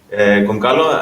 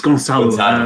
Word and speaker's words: Gonçalo: Goncalo, am I pronouncing it correct? No, thanks for asking, Christos. It's Gonçalo. Okay. It's Portuguese, Gonçalo. So it's read as a Z.